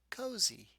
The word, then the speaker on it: cozy: the word cozy hmm what sound is the Y making at the end of this word cozy yes it is making a long e sound why is it making